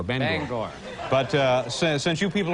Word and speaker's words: Bangor: town is actually pronounced bangor bangor b-a-n-g-o-r they get your ban and your gore ban bangor but uh since you